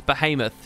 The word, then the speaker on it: Behemoth: I've always wondered, how do you pronounce Behemoth? It's Behemoth.